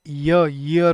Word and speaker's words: ईयर: Guys ईयर जो होता है हम इसको प्रोनाउंस करते हैं ईयर की तरह, लेकिन इसकी एक्चुअली प्रोनाउंसिएशन ईयर होती है.